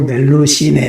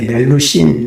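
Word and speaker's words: Melusine: 그래서 서양에서는 이제 멜루지네라고도 하고 멜루시네, 멜루신 뭐 이렇게도 발음합니다만은 중세 기사의 사랑 이야기에서 때때로 뱀으로 변하는 절세 미인을 가리켜서 멜루지네라고 불렀다.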